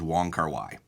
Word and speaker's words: Wong Kar-wai: his film since college the most common way i've heard it pronounced in among english speakers and among among american cinephiles is the way that we've we've been pronouncing it which is wong kar-wai yes that's the common